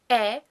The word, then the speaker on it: ä: Ä is somewhere between an E, a German E sound, and the English A. Like in, I don't know, cat or fat. You could try sliding from an E into an A. Basically, you do an E and then you open your mouth further.